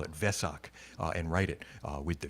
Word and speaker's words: Vesak: Sila wimala but the the W is pronounced like a V right so that's why they call it Vesak and write it with